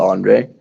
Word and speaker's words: Andre: In an American accent, I would say Andre. Okay, so it's not Andrea, it's Andre.